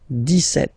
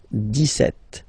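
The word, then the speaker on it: dix-sept: But then for the pronunciation, 17. Okay, so you don't insist on the s. 17, 17, 17.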